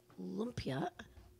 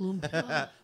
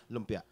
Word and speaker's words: lumpia: We have what is called lumpia, which is these little tasty. That's how white people pronounce it. How do you pronounce it? Lumpia. Lumpia. Lumpia.